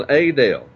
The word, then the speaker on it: Adel: town of adale Georgia everybody was doing adale and so that's why I start pronounce it that way okay I think